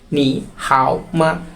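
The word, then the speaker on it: 你好吗: সাথে যখন দেখা হয় তারা এভাবে সম্বোধন করে নি হাও মানে হ্যালো ওকে তারপর বলছে হাউ আর ইউ তুমি কেমন আছো নি হাও মা নি হাও মা ওকে নি হাও মা এই উপরের দাগগুলা কোন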